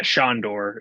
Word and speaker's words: Sandor: and then we've got is that sandor helderman yeah shondor yeah is how it's pronounced yes um yeah they